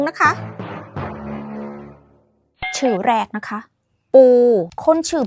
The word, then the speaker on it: ปู: Is A To name It's pronounced Like ปู not P ปู่ น่ะ ชื่อ ไทย